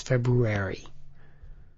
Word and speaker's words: February: I always pronounce the R in February is February.